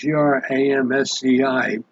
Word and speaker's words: Gramsci: I think that's how you pronounce it, Gramsci, who advocated the infiltration of the civil society to destroy it from within.